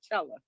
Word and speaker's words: Cella: your name right it's I'm I'm the female instrument so it's not a cello but a Cella Jella Jella well welcome